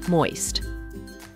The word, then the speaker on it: moist: Remember to pronounce both the final st in the word. Moist.